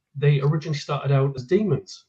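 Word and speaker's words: dæmon: stand the man um he he has the same word and um he he pronounces it demon and um it refers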